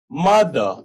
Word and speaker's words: mother: मदर, MOTHER, तो ई के बाद आर आ रहा है तो आर साइलेंट हो गया, this will be pronounced as मदर।